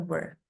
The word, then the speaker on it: were: Ini bukan where ya. Hati-hati kalau where itu nanti kembali ke sini loh. Where. Di mana? Ke mana? Were. Ini bacanya were.